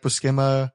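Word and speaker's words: Buscema: nothing to or bukima somebody told me the pronunciation I think it actually is supposed to be like bukima uh just like kubert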